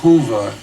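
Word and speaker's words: Hoova: points the civiliz ation behind URI is called Hua spelled in English h o o v a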